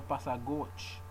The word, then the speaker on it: pas à gauche: Mais, s'il vous plaît, ce n'est pas à gauche. That's that liaison. Ce n'est pas à gauche. You have to pronounce all of this together.